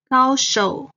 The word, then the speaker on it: 高手: 机场机场 Then, 高手 expert and master. Again, 高 is the first tone. 手 is the third tone.